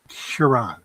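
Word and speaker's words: Charon: Oh, Cheron. Cheron. I don't know. I I I'm bashing it all the time. It can be pronounced multiple ways. It's kind of like chiron whatever I pronounce it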